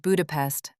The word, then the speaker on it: Budapest: I said the word Budapest the way she said it with the Hungarian stress on the first syllable.